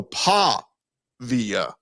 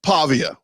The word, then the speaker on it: Pavia: The New Mexico State pronunciation guide, PAH, P-A-H, in big letters, and then V. So Pavia.